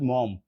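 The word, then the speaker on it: Maugham: story by summer set মম এটা হচ্ছে কে summer সেটার উচ্চারণ কিন্তু মম অনেকে মুঘুম বলেন এটা করা যাবে না আর নোবেল বাই ডিএইচ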